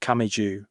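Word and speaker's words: 神上: The one above God is pronounced Kami Jeu, but is spelled differently from Tama's family name.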